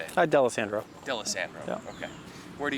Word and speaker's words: Dalessandro: Dalessandro.